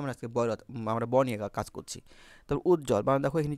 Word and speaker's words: উজ্জ্বল: বটার উচ্চারণ হলো না উজ্জ্বল বানানে বর্গ জবজ বর্গ আছে সেজন্য এ বটার উচ্চারণ হলো না পার্শ্ববর্তী বানানে তালবস রেফ